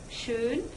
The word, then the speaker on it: schön: There is oh, like in schon, and the trick when you want to say oh-umlaut is ooh, schön, and that is an important distinction; schon means already and schön means beautiful.